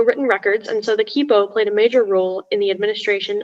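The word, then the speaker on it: quipu: the information please sure so the word is kippo that's the only pronunciation it's a noun spanish from quechua it's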